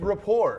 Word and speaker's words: rapport: yo raport what raport how do you what's the word it's Rapport Rapport there you go there